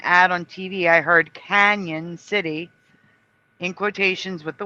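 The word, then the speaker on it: Cañon City: However, it is pronounced Canyon City, not Canon City.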